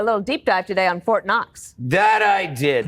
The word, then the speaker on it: Fort Knox: deep dive today on Fort Knox that I did the interesting thing about Fort Knox is that the K is silent did you know that